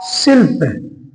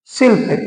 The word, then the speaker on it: शिल्प: उसके बाद क्या है सिल्प शिल्प इसमें भी कुछ नहीं हो रहा है स ही आ रहा है ठीक है दोस्तो शिल्प हो जाएगा इसके बाद आधि कर